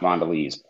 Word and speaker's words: Mondelez: It's pronounced Mondelez. Mondelez. It's French.